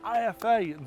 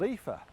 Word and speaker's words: IFA: But the only problem is I've been saying IFA all wrong. It's not called IFA, it's called Epha.